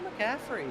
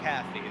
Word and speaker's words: Caffey: caught here by Michael McCaffrey. You can follow him right now. Michael Caffrey, I apologize. Michael Caffey, there we go.